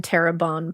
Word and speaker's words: Terrebonne: Just 2 months after the discovery of Alonzo Hogan's body, this time in Terrebonne Parish. I hope I said that right. I looked up the pronunciation.